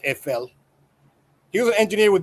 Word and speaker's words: Eiffel: It's pronounced EFL.